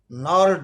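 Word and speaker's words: gnarled: नार्ड disease, जी silent है इसमें, नार्ड disease means twisted bones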